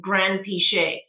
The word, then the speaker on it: Granpeesheh: And you can't do Geron because if you put G-E in English, it turns into the J sound, right? So when I grew up in England, we just started with Granpeesheh, and that's how you pronounce it, Granpeesheh, and like no emphasis on any part of it.